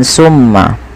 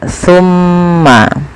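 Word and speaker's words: ثم: Jangan dibaca dengan summa, tapi dia summa. Pakai sa, bukan pakai sin ya.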